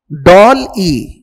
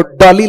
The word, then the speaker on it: DALL-E: हाल फिलहाल में बड़ा चर्चा में रहा था ये DALL-E, and pronounce it with a pause, नहीं तो डॉली लगेगा वो।